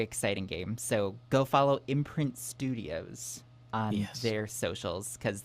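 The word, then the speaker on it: IMPRNT: Yeah, it's um I think it's like spelled like I M P R N T Studios like imprint.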